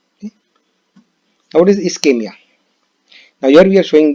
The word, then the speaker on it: ischemia: So what is ischemia? Remember ischemia. This is how it is pronounced.